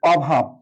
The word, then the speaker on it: অভাব: বা বলি যে দেশে অভাব হয়েছে, অভাব, অর্থাৎ এটা নেতিবাচক অর্থ, অভাব, অয়ের উচ্চারণ অয় রয়ে গেছে।